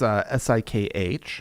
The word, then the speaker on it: Sikh: Where 5 Sikh men, that's S-I-K-H. Yeah. Often Sikh is how you'll hear that pronounced.